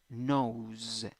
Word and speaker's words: nose: when you write it you have s pronunciation z okay and that a just disappears or sorry that e disappears pronunciation oh nose nose nose if you want